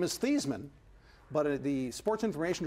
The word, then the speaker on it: Theismann: and that's an exponential his family name is thiis Minh what he is for